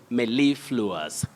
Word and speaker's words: mellifluous: be aware of is we have a primary stress on the second syllable you say mellifluous may live lewis not